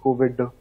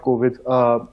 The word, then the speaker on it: Kovid: So I know you stress on the D because it's the key pronunciation of the D that actually differentiates your name a little bit from the virus.